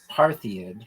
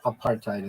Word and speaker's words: apartheid: Have you heard a South African ever say aid? No. Apartheid is what they say. Um but it it's it's like a it it seems like it's a Greek like the parthanon. I think that's where I was getting that from, but it's not. It's apartheid though.